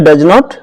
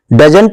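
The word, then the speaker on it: doesn't: क्या रहा, आप कहेंगे डज नॉट, लेकिन इसका कॉन्ट्रैक्शन है डजन। डजंट नहीं, डजन। ये टी जो है इसका साउंड थोड़ा लाइट रहता है, ऐसे ये डिडंट नहीं, डिडन।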